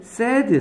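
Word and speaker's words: said: 저 위에 올라가 보면 얘는 세이드 하면 얘 뭐라 발음해? 세이드 세이드가 아니라? 세이드 세드 세드 그래요 정말이야 거짓말이 아니라 이거 세이드라고 발음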